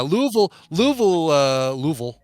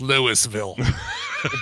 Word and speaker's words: Louisville: But how would an Australian pronounce some of our cities? Yeah. Yeah, Louisville is an interesting example.